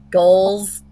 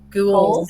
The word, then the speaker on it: ghoul: Goals. Ghouls.